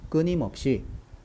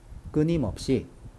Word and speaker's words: 끊임없이: 없이 라고 발음합니다 자 빨리 한번 바람에 볼까요 끊임없이 끊임없이 끊임없이 터져 나왔다 이렇게 발음합니다 그래서 정답은 4번입니다 유니 급의 바른 표기는